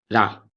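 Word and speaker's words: る: Pronunciation tip like रू, लेकिन soft और क्विक होना चाहिए, रो नहीं, रू।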